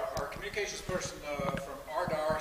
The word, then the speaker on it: RDAR: communications person uh from ardar said uh i have to put uh the name of the uh the group out there in terms of uh ardar that's how pronounced results driven agricultural research